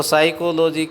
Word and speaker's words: psychology: साइकोलॉजी आपने देखा तो साइकोलॉजी की यदि आप स्पेलिंग्स देखें तो PSYCHOLOGY में P से शुरुआत है, लेकिन इसका उच्चारण साइकोलॉजी है, तो P पूर्ण रूप से आपने देखा कि यहाँ पर साइलेंट है।